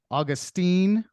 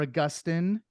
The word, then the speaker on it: Augustine: He's also been pronounced Augustine or Augustine or Augustine of Hippo.